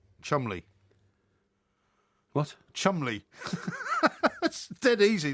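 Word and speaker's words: Cholmondeley: with that s name I I uh Mr Chumley waren do you not remember him from the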